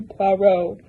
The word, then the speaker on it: Poirot: I really like Hercule Poirot, because his name rhymes with Poe.